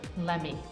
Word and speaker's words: let me: is very important let's me sounds like lemme going to sounds like